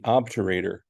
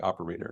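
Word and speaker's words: obturator: and four called the obor nerve another one that people seem to misspell a lot or mispronounced people want to call it the operator nerve OB terator nerve um that can be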